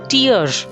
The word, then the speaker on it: tear: from the eyes answer the pronunciation is tear rhyming with ear her eyes were full